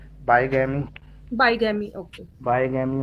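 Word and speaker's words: bigamy: और बिगामी, बाईगैमी, बाईगैमी, ओके। बाईगैमी हो गया, एक से क्या ज्यादा प्रोनाउंस बीवियां। करते हैं सर इसको, बाईगैमी प्रोनाउंस करते हैं कि बिगामी? बाईगैमी, बाईगैमी का मतलब ये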